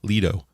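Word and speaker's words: Ledo: I think they're everywhere it's it's spelled l-e-d-o Lido Lido Pizza I think it's I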